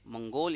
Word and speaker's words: منگول: تو یہ ترک کی 2 اولاد تھی, ایک تھے تتار اور دوسرے تھے منگول یا پھر مغول یا پھر مغل, ایک ہی